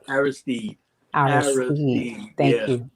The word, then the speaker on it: Aristide: Haitian former president, um, and I'm going to pronounce this, John Bertrand Aristide? Aristide, Aristide.